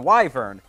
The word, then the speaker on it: Wyvern: original Sonic Frontiers video I didn't know how to pronounce it now I know how to pronounce it it's the wyver get get used to